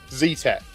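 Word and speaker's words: Zetec: Z-Tech. Yeah, they had to respell it here, Z-E-T-E-C, Z-Tech, because otherwise we called it Z-Tech, and it sounds a bit shit, doesn't it?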